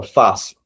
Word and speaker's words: fácil: Então, fácil. Temos duas sílabas. Fácil. Veja que o Fá, ele é mais forte. Fácil. Então, nós temos a sílaba tônica, a penúltima sílaba.